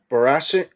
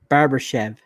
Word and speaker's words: Barbashev: yeah nander Jamie Dale another great player Ivan barass brasses barbashev Barbers Barber what barbashev barbashev okay um Conor hel hel hel H